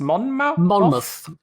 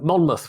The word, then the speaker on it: Monmouth: Monmouth. Yeah, it's muth rather than mouth. Okay. Even though it looks like mouth. So Monmouth, which is it's named